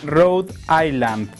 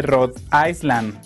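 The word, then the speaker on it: Rhode Island: XX aeros me indica se pronuncia rad Island en lugar de rad isel te encargo mucho tu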